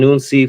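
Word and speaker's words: hounsi: There's, the initiate of the house, which is referred to as an unsi. Again, spelled with an H, but the H is silent.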